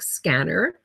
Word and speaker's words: SCENAR: there you have it scanner is self-controlled auron neuro adaptive regulator now we pronounce it like scanner because as in a way this is what the device does it scans the body